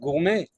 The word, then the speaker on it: gourmet: Now in French they write the word gourmet with the letter T at the end, but they don’t pronounce it. They don’t say it, yes, they don’t say gormet, they say gourmet.